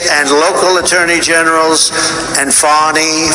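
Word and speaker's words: Fani: local attorney generals and fonnie fonnie you know fonnie spelled f a n i my name is fny f a n i i don't figure it put little French accent on the word with her lover Wade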